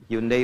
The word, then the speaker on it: Hyundai: Ya, Jepang bikin Honda, ya Korea bikin Hyundai. Hyundai bacanya Hyundai.